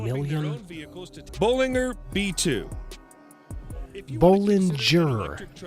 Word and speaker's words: Bollinger: Bollinger B2.